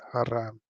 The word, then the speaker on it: haram: It's haram.